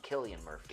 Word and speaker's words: Cillian Murphy: for the longest time, I thought it was Cillian Murphy until I heard an Irish director talk about casting him, and he's called him Killian Murphy.